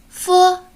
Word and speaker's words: 佛: 时候呀，上唇要接近下唇，形成窄缝，让气流从这个缝中摩擦成声，读音较短，声带不颤动。